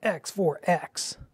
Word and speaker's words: X4X: on the bottom and that is the proper way to say x4x you have to say x for x like a 90s commercial i was painting terrain